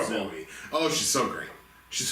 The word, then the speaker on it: Zooey: I really like, and Zooey Deschanel or Zoe Deschanel, I think she pronounced it Zoe.